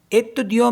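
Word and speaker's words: étudiant: Next है ETTUDIANT, एतुदियों means होता है स्टूडेंट।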